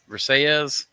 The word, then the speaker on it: Versailles: Versailles.